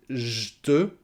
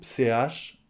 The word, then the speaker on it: j'te: Soit vous essayez de prononcer j'te ou CH, j'te. C'est plus souvent dit CH en fait.